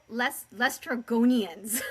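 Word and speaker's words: Laestrygonians: to pronounce it. Lestrogonians.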